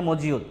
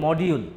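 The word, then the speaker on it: module: উচ্চারণ করি হচ্ছে যে মডিউল এখন কোন ইংরেজ তো আপনার সামনে এসে হচ্ছে যে মডিউল বলবে না কারণ শব্দটার উচ্চারণ মডিউল না ঠিক আছে কখনো ওটার উচ্চারণ মডিউল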